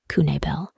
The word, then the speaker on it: Knabel: people goes missing herself Andrea Michelle Kabal pronounced kunel was a 37-year-old old